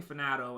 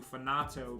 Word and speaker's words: Finato: the final finato region i keep saying fanato and i said earlier today that i would need i need to change it change my pronunciation to finato because that's that would be the official uh pronunciation of it but yeah